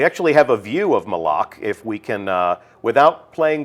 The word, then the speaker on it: Malak: Malak. Right. Official pronunciation confirmed. So Malak.